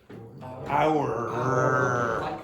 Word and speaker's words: hour: How would you pronounce that word? Hour. Okay, hour, yes. Now, if you listen to the way Luis pronounces it, you will not hear the sound very clearly.